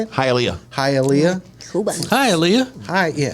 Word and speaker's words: Hialeah: Hialeah.